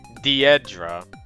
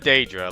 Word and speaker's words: Dedra: It's Dedra, not Dra like I thought. It's Dedra.